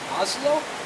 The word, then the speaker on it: hazlo: So to say do it, would it be hazlo? C, and there will be no accent.